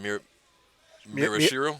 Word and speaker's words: Miyashiro: Miyashiro.